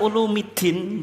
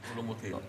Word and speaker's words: Ulumiddin: Imam Ghazali dalam Ihya ulumiddin bacanya ulumiddin Pak tapi Ulumuddin yang mudah ya Ulumuddin ada mudhaf ilaih dimarfukkan itu ya orang Indonesia kalau nyebut Ihya Ulu muddin itu salah itu tapi karena kalau kita